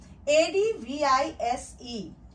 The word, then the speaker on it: advise: rice nice mice but a d v i s e advise advise it rhymes with eyes and size z sound Z let's see some